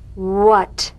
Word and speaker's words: what: head house hair hand words that begin with WH are pronounced H W when what whistle whisper which now